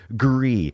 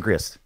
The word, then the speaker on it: Gris: chatroom saying that that it is French and that it's pronounced Gris I'm saying Chris oh is it Greek